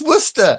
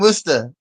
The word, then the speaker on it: Worcester: Just Worcester. That's all. It's really easy. So Jeeves and Worcester. Worcester? It's just Worcester. Worcester. But it's spelled Worcester.